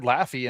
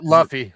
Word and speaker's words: Luffy: You're about to get killed for pronouncing that name completely. I don't know any of the characters. Luffy, sorry.